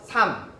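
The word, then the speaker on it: 삶: 살암 아니면 달악 이렇게 발음은 하지 않는다고. 리을이냐 미음이냐, 미음이 선택되면 삼, 리을이냐 기역이냐, 기역이 선택되면 닭 이렇게 끝난다고.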